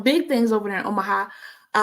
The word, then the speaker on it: Omaha: So they're doing big things over there in Omaha. Did I say it right? Omaha? Yes, ma'am.